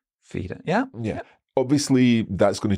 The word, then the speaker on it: Feder: So fell and feda. Now there we do have a different pronunciation. In my head, it sounds a little bit like the difference between the E in egg and yeah. the. Yeah. I'm thinking, well, the A sound in, I don't know, the month of May. Feder.